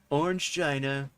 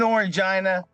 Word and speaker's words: Orangina: is brought to you by orange Gina we'll get a ceas and desist from Orange Gina first of all not how you pronounce it second of all we